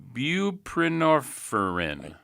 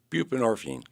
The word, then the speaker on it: Buprenorphine: Buprenorpherin. Bupinorphine.